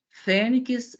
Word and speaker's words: fênix: Então, temos aqui tórax, fênix e ônix. Primeiro, analisando a posição da sílaba tônica. Quando pronunciamos tórax, onde está a sílaba tônica? No tó. Fênix, no fê.